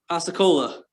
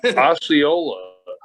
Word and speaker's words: Osceola: it's january 24th nope okay so this is asa cola so this is florida florida okay probably pronouncing it wrong osceola so nice well what i thought was uh